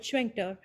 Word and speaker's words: Schwenker: So we have a workshop that is going to come from Robert Schwenker. I've been pronouncing his name with the T. It's not silent.